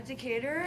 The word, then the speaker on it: Decatur: Yeah, Decatur.